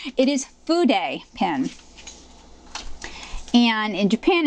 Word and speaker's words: fude: It is not pronounced food pen, as I've heard some people say. It is fude pen.